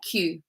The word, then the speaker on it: queue: But we just say Q. You just pronounce it like the letter Q.